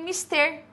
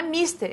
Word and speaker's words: mister: Aí, na letra A, de cara, eu tenho mister. Não é mister, é mister.